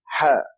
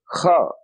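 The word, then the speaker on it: ح: They pronounce this letter, which is Ha. They pronounce it Kha, and that is wrong.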